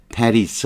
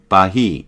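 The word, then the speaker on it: Paris: 파리스 아시잖아요. 파리스. 우리가 우리말로 이거를 페리스라고 안 하죠. 파리라 그러잖아요. 불어로 발음하면 빠히 이렇게 발음할 거예요. 빠히. 스페링의 맨 끝에 있는 자음은 불어는 발음하지 않아요.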